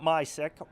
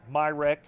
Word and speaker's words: Myrick: Justin will be taking on today Myrick, not Mysick, Myrick.